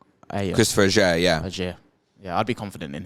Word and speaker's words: Ajer: I couldn't say to you with certainty, if you said to me, that back three, Zanka, Ajer, Collins, who definitely plays?